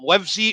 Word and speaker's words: Livesey: is now i've probably been saying your name wrong but is it livesy or livesy it's lives your mouth everyone spells